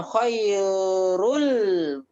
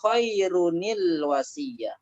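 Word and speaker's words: خيرٌ الوصية: Jadi kita bacanya bukan khairul, karena dia dhammatain ya, kita bacanya khairunil wasiyah.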